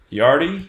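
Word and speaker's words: Yarde: 2nd in the Anthony yard E is how you say his name let's see here so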